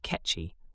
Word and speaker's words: Kekchi: The Kekchi, pronounced Ketchi, are one of the still surviving indigenous tribes of Mayans.